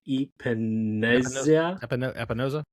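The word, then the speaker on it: Epenesa: His name's AJ Epinoza.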